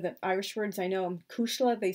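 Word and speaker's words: cuisle: characters calls his girlfriend Cushla Macree, which means pulse of my heart, and it's really spelled C-U-I-S-L-E, so they, I guess, anglicized the spelling so children could pronounce it a little easier.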